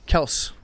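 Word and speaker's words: Kelce: kels kels brothers lc's kels brothers kelsey kells kels kells's apparently everyone has been calling travis and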